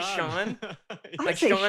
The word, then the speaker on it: Shan: say you don't say Shan Freddy you say Sean Sean I would have